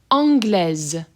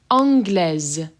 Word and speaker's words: anglaise: Anglais, anglais, anglaise, anglaise. So you can hear that the S is being pronounced as a Z.